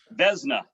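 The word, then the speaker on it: Vezina: played for six nhl teams i hope i pronounce this right right the xena trophy is that how you say it beznau vesna i knew i did that's so cow guy for you all right sorry vesna trophy winner in 1988 um that's for the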